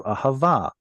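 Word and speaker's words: אהבה: This should have been originally ahava, but we were lazy and we didn't pronounce the T at the end. So it turned into ahava.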